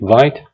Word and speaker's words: Vite: a React application using Vite. Some people pronounce it Vite. I prefer to pronounce it Vite because Vite comes from a French word, means fast, right?